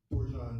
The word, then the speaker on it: Dorjan: Dorjan, pronounced like Dijon.